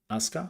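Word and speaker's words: Aska: glance but it works no it's not ascard it's ascar this is why I corrected myself because I realized I spell it wrong yeah it's ASA as Ka and the demo is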